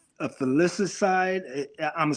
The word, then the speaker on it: filicide: when we talk about men, for men, they usually suffer from or commit what's called a filicide. I'm gonna spell it for you.